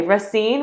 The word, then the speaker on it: Racine: shark fitness um it's in mount pleasant and racine is that how you say it okay racine wisconsin he has been a personal trainer sports